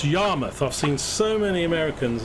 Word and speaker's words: Yarmouth: And this is pronounced Yarmouth. I've seen so many Americans in videos go Yarmouth, Yarmouth. It's Yarmouth, as if it's M-U-T-H.